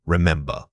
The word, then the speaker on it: remember: Remember, here we are focusing on where your voice naturally rises and falls. The strongest beat should land right after the short I sound.